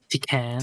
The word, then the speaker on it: Tekken: It's pronounced Tekken. Tekken, you know, it's chicken.